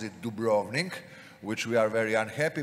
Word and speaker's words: Dubrovnik: on the upper part is the most famous Dubrovnik everybody pronounces it Dubrovnik which we are very unhappy but anyway let